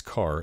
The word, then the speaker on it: char: int float and double hr pronounced by sum as car as in character is an integer stored